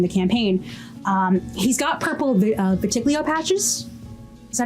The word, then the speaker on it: vitiligo: He's got purple vitiglio patches. Is that how you say it? Oh, is it vitiglio or is it vitiligo? Vitiligo, right? That's how I say it. Vitiligo.